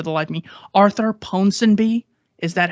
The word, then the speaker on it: Ponsonby: he mentioned Falsehood in Wartime by, I can't pronounce this name for the life of me. Arthur Ponsonby.